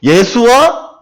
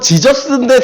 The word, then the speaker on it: 예수: 그리고 영어로는 지저스인데 사실은 이거 잘못된 발음이에요. 지저스라고 하는 게 아니고 그냥 그대로 써야 돼요.